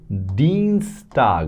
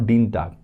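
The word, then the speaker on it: Dienstag: So Deanstag, not Deanag, Deanstag, that is how you remember it.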